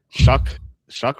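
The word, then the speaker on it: Shough: Shuck rhymes with duck.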